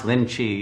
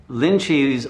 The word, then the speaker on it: Linji: the rinzai sec because they can't pronounce linchi you know in japanese so they turned it to rin's eye but that's the uh